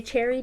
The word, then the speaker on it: Cherryh: Cherryh before. And apparently, if you're wondering, if you're like, that's not how it's pronounced, no, I looked it up on Google, and that is how you pronounce it.